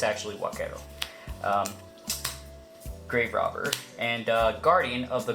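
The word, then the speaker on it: Huaquero: it called black arrow because in Spanish that H is silent so anyway yeah it's what cattle not wat Carol I know a lot of people like to say Kwok arrow but it's actually what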